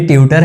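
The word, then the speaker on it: tutor: लेकिन हाँ ये ट्यूटर होता है, इसको ट्विटर मत कर देना जी, ये ट्यूटर है, यहाँ पे यह का साउंड आता है।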